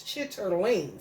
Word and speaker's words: chitterling: It's chitterling. Say it correctly, white boy. That's what I said. What the fuck is chitlins?